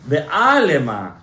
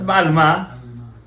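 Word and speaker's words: בעלמא: You know? Not Ba'alma. Alma is a girl.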